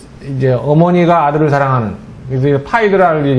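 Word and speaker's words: Phaedra: 그러니까 이제 이제 어머니가 아들을 사랑하는 그래서 파이드라를 영어식 발음으로 이제 페드라라고 그러는 건데 이제 개모건 아니면 뭐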